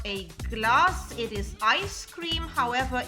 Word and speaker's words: glas: However, if you spell it with one S and pronounce it with a long A, as in glass, then it would mean a glass, like in English.